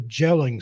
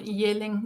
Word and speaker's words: Jelling: at a town called Jelling. We used soft. Yelling. Okay, I was close. Yeah. But, Well, you can just those say are- yelling because that's the same pronunciation, basically.